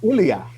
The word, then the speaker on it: Elijah: And get this, in Hebrew, in Aramaic, Elijah is pronounced Ilia.